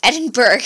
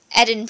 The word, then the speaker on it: Edinburgh: City and I used to think it was Edinburg but I was very wrong about that it's edinb and I've also heard Edinburgh but um natively